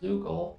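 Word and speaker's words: Zeugle: close to a Zoogle, they'll attack. Oh, it's pronounced Zoogle.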